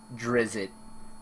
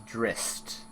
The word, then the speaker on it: Drizzt: The latest pronunciation is Drizzit, but the pronunciation is given as Drist in Forgotten Realms campaign setting.